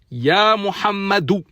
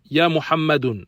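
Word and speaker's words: يا محمدُ: Ya Muhammadou. Ya Muhammadou. Et non Ya Muhammadun. Ça, c'est une erreur. On dit Ya Muhammadou.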